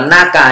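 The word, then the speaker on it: 中: Nhớ ở đây nó đọc là naka nhá, mita naka de.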